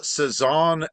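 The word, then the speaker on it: Cézanne: and also real quick the pronunciation of those two um French impressionist artists is Paul saeson and Henry matis uh my mom would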